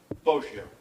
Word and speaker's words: Boggio: You know, something that came up there, you pronounced the victim's name two separate ways, Boggio and Boggio. Is there a member of the family here that can tell me what the correct pronunciation is? How do I pronounce it correctly? Boggio.